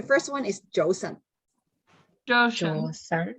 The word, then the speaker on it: 早晨: 早晨， Josan. 早晨, like Awesome. two syllables, right?